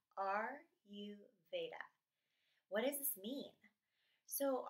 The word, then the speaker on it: Ayurveda: Ayurveda is pronounced capital letter R, capital letter U, Veda. R-U Veda.